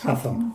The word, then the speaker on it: Hougham: This is wasn't around at that time, but Hougham, yes? Hougham. Hougham. Yeah. Oh, as it's spelt.